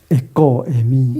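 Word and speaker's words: ἐγώ εἰμι: 에고 애미 에는 이거 그 발음이거든요. 에고 그래서 액센트가 뒤에 있으니까 에고 에 에 미 미 어 에고에미 에고에미 세 번 읽어보도록 하겠습니다.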